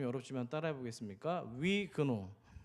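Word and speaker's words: Huguenot: 한번 좀 발음이 어렵지만 따라해 보겠습니까? 위근노.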